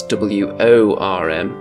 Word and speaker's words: Wyrm: That's W-O-R-M, rather than the mount in the Kings of War rules, which is spelt W-Y-R-M, but the pronunciation is much the same.